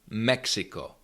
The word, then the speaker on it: Mexiko: This letter is always pronounced as curs like in the word codex codex or Mexico. Mexico.